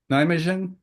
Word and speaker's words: Nijmegen: Center for Cognitive Neuroimaging at Radbout University in Nijmegen, the Netherlands. Did I pronounce it right? That's right. Okay, Nijmegen.